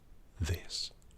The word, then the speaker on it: this: Now try this. It's more difficult because of the I sound after it.